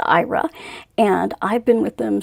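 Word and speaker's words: Aira: And so I have been with IRA, which is oddly enough how you pronounce it. Doesn't look that way, but it is pronounced IRA.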